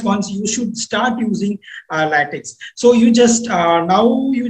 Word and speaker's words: LaTeX: So it is actually, even me usually pronounce it as LaTeX because of this last X. So it is actually LaTeX. we need to pronounce it as a latex.